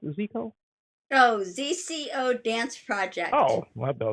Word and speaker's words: ZCO: Is that how you pronounce it? Zico? Oh, ZCO Dance Project. Oh, I thought it Yeah. was Zico.